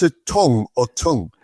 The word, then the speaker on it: Tonge: One thing I want to ask is your your surname T O N G. Do you pronounce it Tong or Tong? It's Tong. T O N G E tong as in as in your mouth tongue.